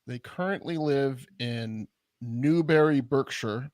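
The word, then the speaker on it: Berkshire: currently live in Newberry Burkshire birkshire you're not supposed to pronounce it or whatever it's not a shire it's a sure or something um they used to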